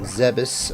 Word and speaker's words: Zebes: I'm thinking we might pal around on Zebes a bit before going back to Hyrule. I think... Did I pronounce it right? I did. I just did. It's Zebes.